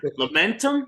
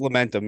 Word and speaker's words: Lamentum: I I get the I get this name wrong every time and John isn't here at the moment so uh momentum I think it's called it's not familiar is that right John lament it's lamentum yeah okay I I think